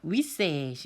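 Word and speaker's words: วิเศษณ์: "Gamset, Gamset"— "wi" 는 짧고 "set" 은 깁니다 . 뒷부분 을 길 게 강조 해서 발음 해 주세요 . 그것 은 "Wiset" 입니다 .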